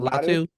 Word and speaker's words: Latu: Lotto. I'm normally pretty good with the Lotto? names. Lotto? What? Would Yeah, you pronounce it Latu.